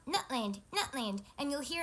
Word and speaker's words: Nutland: waveform of that recording nut land nut 'land you would see the complete absence of vocalization in the center so that's a glottal stop so that's where we are at on how to correctly pronounce so you see